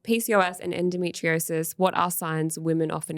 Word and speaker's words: endometriosis: And endometriosis.